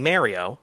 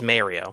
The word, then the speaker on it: Mario: in the title, which until middle school I was saying Mario cuz I'm from New York and everyone who we know made fun of me and basically bullied me into saying it correctly.